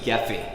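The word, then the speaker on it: Gephi: Network X is one and there's it's not gift fee there's another one it's another names get fee that's the correct pronunciation they're not interactive this is one or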